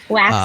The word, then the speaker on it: Waks: Wax, like candle wax.